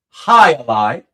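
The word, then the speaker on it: jai alai: That's pronounced High-a-Lie game against Flynn.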